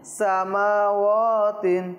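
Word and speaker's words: سماوات: ইয়াদাইহি হাইসু গায়বু সামাওয়াতিন ওয়াও মিমও টানতে হবে। ওয়াও সামাওয়াতিন আবার বলুন এটা সামাওয়াতিন।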